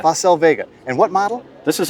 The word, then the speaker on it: Facel Vega: This is a Facel Vega. Am I pronouncing that right? That's correct, the Facel Vega. Facel Vega.